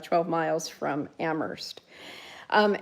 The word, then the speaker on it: Amherst: like 12 miles from Amherst. Um Amherst in Massachusetts, it's famous for a few things. One thing is it's Emily Dickinson's home. Um the other thing is is that um the H is silent, so.